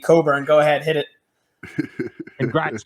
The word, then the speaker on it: Cockburn: also maybe it's because he changed the pronunciation of his name i'm pretty sure he was cockburned until this year and now he's going by just kofi coburn go ahead hit it